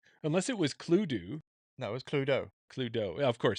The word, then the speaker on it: Cluedo: So it says, Cluedo, known as Clue in North America, is a murder mystery game for 3 to 6 players, depending on the editions.